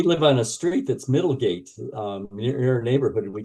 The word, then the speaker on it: Middlegate: And if I have the English language on, it always pronounces it mid-legged. So I don't know why it doesn't do Middlegate proper.